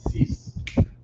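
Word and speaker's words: six: it would be cease. In Creole and French, it's cease. Right. So 1 syllable, Right. right? Cease. It begins with an S sound, ends in an S sound, but it's an X, right?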